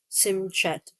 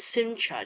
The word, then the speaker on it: Simchat Torah: Or is it Simcha? Do you say Simchat? Simcha? Because it sounds like it could be without the T. Simhat Torah is a Jewish holiday